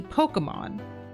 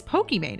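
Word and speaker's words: Pokimane: hilarious cuz her name is right like it's pronounced Imon and she wanted it to be Pokemon you know Pokemon Pokemon right but people read it understandably as pokem Mane and so that's actually what she's become known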